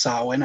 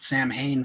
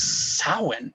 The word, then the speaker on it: Samhain: uh and i just recently learned it's actually pronounced samhain i've been calling it samhain for decades like an and